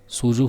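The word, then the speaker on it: 蹴鞠: कुजू का उच्चारण सूजू होता है जिसका सबसे अच्छा अनुवाद किक बॉल है।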